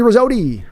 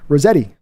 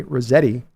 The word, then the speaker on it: Rosetti: do appreciate it boom Tony rosti Rosetti sorry Tony sorry Tony I butchered your name Tony Rosetti I'll say your name right thank you for subscribing